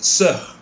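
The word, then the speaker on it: sœur: But the correct pronunciation of this word yang bermaksud adik atau kakak perempuan is sir. Sir. Bunyikan R sikit lah.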